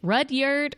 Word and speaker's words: Rudyard: It's actually Rudyard.